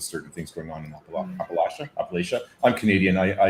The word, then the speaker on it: Appalachia: have rumors of certain things going on in Appalachia. Appalachia. I'm Canadian. I I apologize. I'm going to butcher that pronunciation. Appalachia.